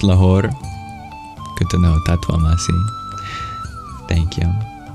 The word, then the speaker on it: Lahore: so close only steps away as it just pronounced La good to know thank you so used to